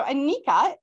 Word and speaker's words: Anika: that there is uh there are pictures so Anika am I pronouncing your name correctly you are yes wonderful